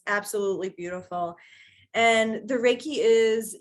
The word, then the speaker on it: Reiki: to me about uh is it pronounced rikai uh it's Reiki Reiki Reiki okay yeah so um